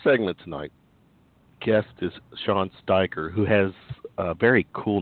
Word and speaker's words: Steiger: Nobody knows how to say Steiger around here. Well, to me, if you go Eye of the Steiger Promotions, to me, it has to be Steiger. Well, plus I know how to pronounce the E and the I thing, but I don't think